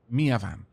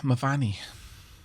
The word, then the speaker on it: Miavan: That is I always mispronounce Miavan. For some reason, I want to keep saying Mavani.